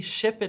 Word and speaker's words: shepherd: However, I see shepherd has a PH sound, PH spelling, but a put sound. Exactly. So sometimes the way it's spelt, you won't say all of the sounds that you see. So in this case, the sound p can be represented by the letters P and H, but the H is silent.